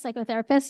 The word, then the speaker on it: psychotherapist: I guess psychotherapist. You don't pronounce the P, but anyway.